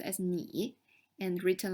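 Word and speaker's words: 你: tone so it's in and combined together it's pronounced as me and written like this meaning you again i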